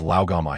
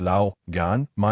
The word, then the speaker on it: Lao Gan Ma: I remember Tony has Lao Gama here. Pepper looked bewildered. Whose mother? Rhodes is slowly pronounced Lao Gan, Ma in Chinese.